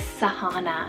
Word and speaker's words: Sahana: Next up, we have an S name here is Sahana, spelled S-A-H-A-N-A, Sahana.